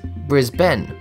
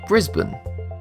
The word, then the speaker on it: Brisbane: The right way to say it, as Oxford learners dictionary put it, is Brisbane or Brisbane.